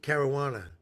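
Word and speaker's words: Caruana: Joa, you say it like marijuana but with a C. Carowana. Carowana.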